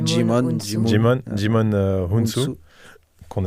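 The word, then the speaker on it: Djimon: Je prononce bien Jimon. Ouais. Moi je dis Jimon.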